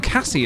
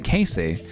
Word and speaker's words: Cassie: I feel like my name Cassie is hard because people always say Casey.